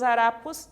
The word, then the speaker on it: harapos: Temos aqui em destaque a palavra harapos e história, e aqui temos em destaque a sílaba tônica ra, né? Que é a penúltima sílaba, e to, que é a penúltima sílaba também.